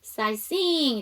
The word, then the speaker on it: sightseeing: 자, 여러분 여기서 보시면 전체 슬라이드에서 묵음을 갖고 있는 아이, 그쵸? sightseeing에서 GH 묵음입니다.